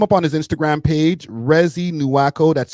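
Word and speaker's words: Reezy Nuako: Rezi Nuako. That's spelled R E E Z Y N U A K O. Again, that's re ez for the people in America.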